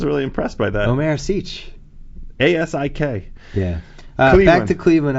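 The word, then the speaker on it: Asik: Is there a pronunciation course? You got Asic. I was really impressed by that. Omer Asic.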